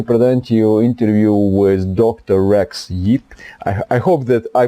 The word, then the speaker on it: Rex Yeap: Rex Yeap. I hope that I pronounced it correctly, your name.